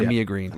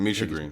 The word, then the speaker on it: Misha Green: Is it pronounced? Misha Green. Is it Misha Green or Mia Green? Misha Green.